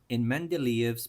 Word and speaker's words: Mendeleev: In Mendeleev's periodic table, that's how you pronounce it, Mendeleev, because he's Russian.